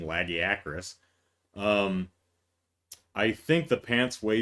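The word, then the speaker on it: Lagiacrus: Like the Legiacris, or if you go by the game's pronunciation, Lagiacris.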